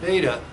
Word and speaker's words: beta: Polar theta, script theta replaces beta. Beta rhymes with theta, but I'm going to make them equal now.